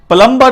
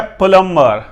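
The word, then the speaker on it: plumber: प्लम्बर नहीं है, प्लम्बर, प्लम्बर।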